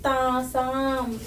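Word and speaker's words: तासाम्: pronounce a dirgha there. Okay, Tasam.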